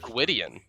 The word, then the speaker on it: Gwydion: think this is Gwydion. Like Gideon.